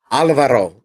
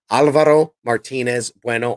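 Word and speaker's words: Álvaro Martínez Bueno: I can't even, Alvaro. I can't even roll my R. Alvaro Martinez Bueno on art.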